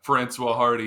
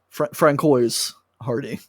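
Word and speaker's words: Françoise Hardy: Francois Hardy.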